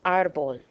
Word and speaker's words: árbol: Another common error I see all the time, árbol. Where do you hear the stress in árbol? Think about it. Okay? It's on the A.